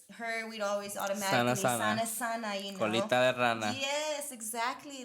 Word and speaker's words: colita de rana: Colita de rana. Colita de rana. Rana with the R. Rana. Not rana. Rana. Yeah, there you go.